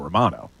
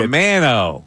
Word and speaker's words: Romano: It should be by Italian standards.